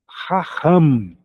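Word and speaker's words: חכם: Outra palavra eh bem o empregada na Bíblia, raham palavra que tem uma pronúncia difícil pro brasileiro, né, que é arrastado duas vezes. Raham. Ram, mas o significado dela é maravilhoso, é sábio. Ramham, arrastado duas vezes no som.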